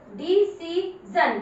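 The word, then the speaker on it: decision: ध्यान रखिए इसके पीछे आई का साउंड आ रहा है तो आप बोलोगे DEDCEC जन। देखो कितनी बड़ी स्पेलिंग को आप कितनी आराम से पढ़ रहे हो, डिसीजन, डिसीजन।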